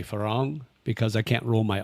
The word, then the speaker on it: farang: So you have to roll your R. I can't roll my R. So a lot of people will say falang, but I say farang because I can't roll my R's.